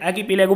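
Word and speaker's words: archipelago: समुद्र में घिरे हुए द्वीपों का एक समूह होता है, वो आर्किपेलागो होता है। इसमें आर भी कई बार साइलेंट करते हैं, आर्किपेलागो बोलते हैं इसको।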